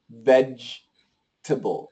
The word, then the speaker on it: vegetable: You might hear other variations, but the proper pronunciation is absolutely a J should be.